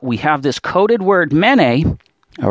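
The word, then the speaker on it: מְנֵא: Okay, this is a mem, nun, aleph, mene. Okay, pronounced this way.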